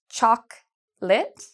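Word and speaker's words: chocolate: Bây giờ, một lần nữa, thực phẩm yêu thích của tôi - rất quan trọng để phát âm một cách chính xác: "sô cô la", "Choclate", "sô cô la".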